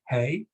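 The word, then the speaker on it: hej: some Scandinavian countries because that's the word for highs hey except except it's spelled h-e-j and of course if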